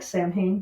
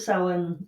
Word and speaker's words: Samhain: I was reading that Samhain, spelled like Samhain, but Samhain, which occurs on November 1st, was considered to be the end of summer and beginning of winter.